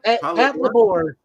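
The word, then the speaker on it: Patlabor: How do you pronounce that? Pat Labor? Pat Labor.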